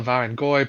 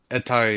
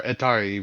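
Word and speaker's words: hetairoi: my pronunciation uh in in the in the Byzantine Greek it's uh etaroi u or etari really but um because of dip thongs.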